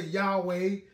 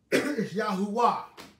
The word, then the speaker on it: Yahuwah: right pronunciation you know from my perspective the correct pronunciation for the word uh yah yahuwah that's how i pronounce y'all's name yahoo uh